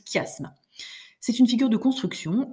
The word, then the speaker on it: chiasme: si on était tous ensemble donc ça se prononce chiasme c'est une figure de construction au lieu d'avoir